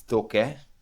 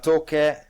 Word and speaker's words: Taake: I think it's Toke. It's written Taake, Take, Okay, yeah, Toke, Toke, I think.